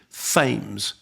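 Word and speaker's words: Thames: in uh Regretting You, I said Mason Tames, which is how it's spelled, but apparently Fames. Apparently Mason Fames.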